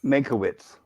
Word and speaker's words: Mankiewicz: Can somebody help me pronounce this name? I don't want to say it wrong. And Stephen W. Katabatzos. Mankiewicz.